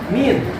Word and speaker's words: mean: Nah, untuk lain rata-rata min, tulisannya mean, dibacanya min.